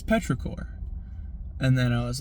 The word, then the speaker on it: petrichor: planet oh you know petrichor five. And then my buddy my old pal said now that's not how you pronounce it. It's petrichor.